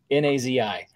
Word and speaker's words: Nazi: a woman who, her first name was Nazi, N-A-Z-I. And so first off, didn't choose her to begin with. And it's actually pronounced Nazi.